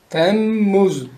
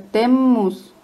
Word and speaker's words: Temmuz: Doble M. Entonces se tiene que hacer ahí la fuerza. Temmuz.